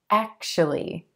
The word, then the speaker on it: actually: Actually, actually. I know it looks like it should be actually, actually, but we're going to give this word just 3 syllables, emphasis on the first syllable, and the A as in black.